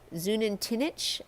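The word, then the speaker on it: Xunantunich: Then we headed over to Zunantinich, I believe is possibly how you say it, perhaps. It's a Mayan ruin just on the border of Belize and Guatemala. That's an X. Unantunich.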